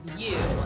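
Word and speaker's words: Vue: Okay, so you have to go have drinks at the View, which is spelled V-U-E.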